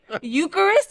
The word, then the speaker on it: Eucharist: Eucharist.